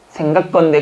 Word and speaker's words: 생각건대: 생각건대. 근데 여러분 발음은 생각컨대. 그러니까 이게 나올 수밖에 없다는 얘기예요.